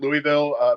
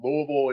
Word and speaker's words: Louisville: My customer service voice calls it Louisville, but we, as residents, kind of fall into calling it Louisville. It's just a stupid Southern pronunciation that we have, and I can't really